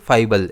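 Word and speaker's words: fable: फाइबल। इसमें stress F पर रहेगा।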